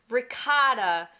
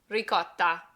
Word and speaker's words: ricotta: Numero 9, ricotta. A classic cheese that I've heard said as ricotta, ricotta, and ricotta. The Italian way is to really emphasize that double T. Ricotta, ricotta.